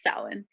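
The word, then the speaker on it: Samhain: that started in Ireland called Salin and it's spelled s-a-m-h-a-i-n just to confuse us Americans and um that's not really why but um in the old Gaelic language it was since it was pronounced Salin and uh Russia I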